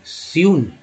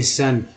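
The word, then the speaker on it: sun: यू को देखिए क्या बोलते हैं यू, तो बताइए एस यू एन को क्या बोलेंगे, स्यून, नहीं सन, यू का उच्चारण यू और सन।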